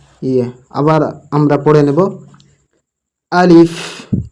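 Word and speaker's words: ألف: আলিফ আলিফ আলিফ। আলিফ হবে না, কি লাস্টে কি হবে? একটু হাওয়া বের হবে মুখ থেকে।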